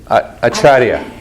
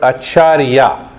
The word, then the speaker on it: Acharya: not sure what you There are two meanings, If you say only achar, that means pickles. No, really. And if you pronounce the word acharya, acharya, that means the teacher who causes you to move to the peace and happiness.